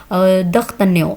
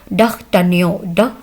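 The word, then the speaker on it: d'Artagnan: दख्तन्यो France में कहते हैं इसको, और इंग्लिश में इसको कहते हैं डख्तन्यो, ड साउंड आएगी उसकी, ठीक है, डख्तन्यो। तो फ्रांस में इसको द से प्रोनाउंस किया जाएगा।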